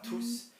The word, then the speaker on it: tous: going to be pronouncing, you are going to be pronouncing the S. Okay, so bonjour à tous.